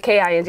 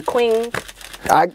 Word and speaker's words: Qing: right it's q-i-n-g not k-i-n-g and I'll be people up they be calling me Queen you know it's just like damn but it is pronounced King and that even comes